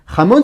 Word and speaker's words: jamón: Jamón, ça veut dire jambon en espagnol. C'est du jambon halal ici. Jamón, ça commence par la jota, le J espagnol, et ça se prononce j.